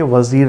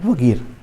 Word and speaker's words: Vagir: Okay, कई जगह आपको देखने को मिलेगा ये वजीर लिखा हुआ हिंदी में, लेकिन जो स्पेलिंग है उसका VAGIR, वगीर।